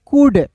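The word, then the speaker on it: could: है याद रखना है एल डी जब एल डी एल डी आपको एक साथ रहेगा तो एल को साइलेंट कर दीजिएगा जी अब बताइए यहां पे देखिए सी ओ यू एल डी है तो इसे क्या पढ़ेंगे दोस्तों कुड नहीं पढ़ेंगे इसे पढ़ेंगे कुड कुड पढ़ेंगे एल साइलेंट होगा दोस्तों इसे पढ़ेंगे कुड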